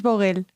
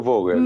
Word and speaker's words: Vogel: psicológico que realiza eh tú lo pronuncias bogel yo lo pronuncio vogel vale lo pronuncia fogel Sí luego ahora te